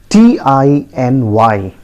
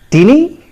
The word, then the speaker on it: tiny: do you pronounce it is it teeny you got it wrong i tell you the correct pronunciation is tiny tiny see the phonetic transcription tiny right repeat after me it is pronounced as tiny don't get confused don't ever pronounce it as tinny and the meaning is